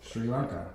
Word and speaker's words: Sri Lanka: That That's the way it's pronounced. Sri Lanka.